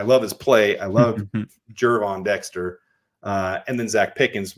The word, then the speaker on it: Gervon: And you've got Andrew Billings, Gervon Dexter. I always say it wrong. Is it Gervon or Gervon? I think it's Gervon. Gervon. Someone said George in my comments. I get it like G, like George.